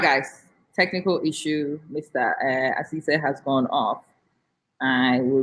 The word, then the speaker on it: Asisseh: Asisseh. Is that how to say it? Dr. Asisseh.